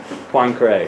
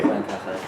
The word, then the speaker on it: Poincaré: Can I get a French expert to calibrate my Poincaré pronunciation? Poincaré. Poincaré. Point. Like with a W. Like Poincaré.